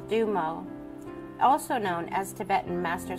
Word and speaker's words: Dumo: higher consciousness the dumo symbol this symbol is pronounced dumo also known as Tibetan master symbol or Tibetan